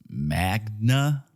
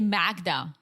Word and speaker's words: Magda: classic so yeah apparently Joe thought her name was Magna like Magna Carta but dude it's spelled with a d yeah why would you like even if you pronounce it in an American way you would still say Magda it's Magda in Europe it's almost it's the